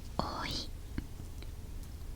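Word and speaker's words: おい: Nó đọc là "oi" *Là "oi" trong từ cháu trai lol* "Cháu trai" đọc là "oi" trong tiếng Nhật!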